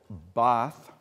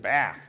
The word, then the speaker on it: Bath: Paul Zelkowski is for the last 30 years been trying to teach me how to say it right. It's always the University of Bath, you know, if you're from Detroit, Chicago, places like that, you know.